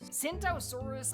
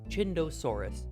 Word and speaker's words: Tsintaosaurus: Anyways, you're saying this dinosaur's name wrong. Mike, play the clip, please. Cintosaurus. Cinttosaurus.